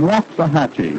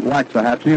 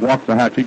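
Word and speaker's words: Waxahachie: Richards Richards comes from waah hatchee he tells me that's the way to pronounce it down in Texas we've been calling it waxahachi and we apologize now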